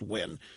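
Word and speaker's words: Nguyen: here is Tina when she Vietnamese ng u ye n pronounced win a couple of pull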